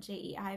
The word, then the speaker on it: Jei: I go by J. I know that's hard for some people to say because I spell it J-E-I, but it's J.